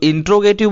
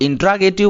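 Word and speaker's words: interrogative: हैं दूसरा टॉपिक हमारा इंटेरोगेटिव सेंटेंस इसे कुछ लोग इंटेरोगेटिव बोलते हैं कुछ लोग इंट्रोगेटिव बोलते हैं तो साथियों यह दोनों ना बोल करके आपको बोलना चाहिए इंटेरोगेटिव सेंटेंस तो इंटेरोगेटिव बोलने से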